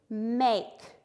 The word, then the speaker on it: make: It's going to have a long A sound and a silent E, make.